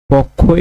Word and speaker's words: পক্ষ: পক্ষ এর সঠিক উচ্চারণ হবে পৌকার ক হসন্ত খওকার পক্ষ। আমরা সাধারণত লেখার সময় প খ এভাবে লিখি কিন্তু এটার উচ্চারণ এইভাবে হবে। বিশেষজ্ঞ।